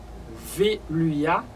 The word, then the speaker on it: Veuliah: Et j'aime pas parler de nous, c'est 43e génie que je t'ai porté pour vous, qui c'est Veluia, qui s'écrit V-E-U-L-I-A-H, ils sont vertus.